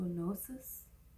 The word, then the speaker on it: gnosis: how to pronounce that I think the g is silent so gnosis but it's just like